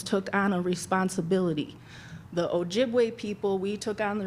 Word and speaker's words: Ojibwe: butchered that name and they couldn't say Ojibwe. So over time that became Chippewa. So Ojibwe is actually the correct way to say that.